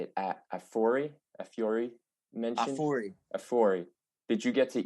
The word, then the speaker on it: Afuri: Afuri.